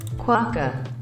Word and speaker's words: Quokka: Quokka.